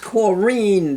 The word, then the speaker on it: Corinne: name is Corinne, not Corinne. Like everybody All right, calls it. excuse me. She likes it pronounced Corrine, dear.